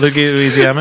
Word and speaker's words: Leguizamo: Hoskins and John Leguizamo.